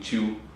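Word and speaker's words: qi: fuego, el hombre es el agua, y hablaba Chiu que el semen acumulado se transforma en ki. Energía. Es chi, se escribe Kai.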